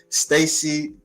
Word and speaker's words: Staci: If I'm correcting that right, if pronouncing it right, Stacy.